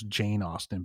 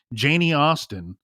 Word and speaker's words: Janie Austen: Now, the girlfriend, Janie Austen, I think I mispronounced her name earlier as Jane Austen, but Janie Austen, from my understanding, lives